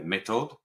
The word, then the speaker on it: méthode: This is the another term for it is it's made in the method, and of course I'm not pronouncing that the French way. Méthode, is that correct?